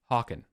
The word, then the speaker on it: Hawken: Hawken. Like hawk on. I'll get it for sure one time. Hawken. Hawken. Like Christopher Walken, but Hawken.